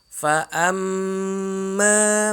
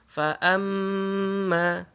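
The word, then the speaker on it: فأما: Ya, di sini mimnya bertasydid, maka mimnya harus digunakan, ditahan. Fa amma, bukan fa amma. Digunakan dulu fa amma. Kemudian mimnya sendiri di sini dia 2 harokat. Setelah ditahan, digunakan karena bertasydid, kemudian diucapkan mimnya 2 harokat.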